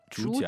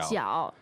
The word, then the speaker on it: 主角: But you will hear people say 主角。主角，对。